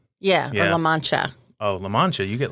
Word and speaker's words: LaMantia: we've got lamentia oh you said it right yeah so i think i said it right the first time i said it wrong when we first met yeah because i'm from the south yeah these are good